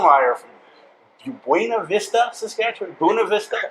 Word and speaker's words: Buena Vista: Bunav Vista. How do you say uh Well, if you want to get fancy, you could say Bunav Vista, but yeah, just uh yeah, Bunav Vista.